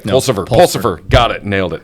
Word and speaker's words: Pulsipher: you aware if mayor mayor pers I apologize persever did I say it right pulsifer pulsifer got it nailed it I got it